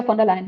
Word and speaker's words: von der Leyen: On March 6th, European President Ursula von der Leyen, did I pronounce that correctly? Yeah, Ursula von der Leyen, yep.